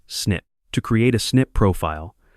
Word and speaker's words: SNP: SNP is the acronym for single nucleotide polymorphism, pronounced simply as SNP.